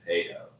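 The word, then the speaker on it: Pedeaux: It's really, I mean, technically, the real pronunciation is probably Pedo. Really? Like the Canadian French, pronunciation. Yeah, see, and that's the thing is that Instead of P-E-D, it's P-E-D-E-A-U-X, but you pronounce that Pedo.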